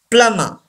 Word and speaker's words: plumber: Plumber. We don't pronounce B and R.